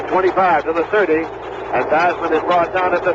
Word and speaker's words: Theismann: explained to him that Theismann rhymed with Heisman. So he pronounced it Joe Theismann.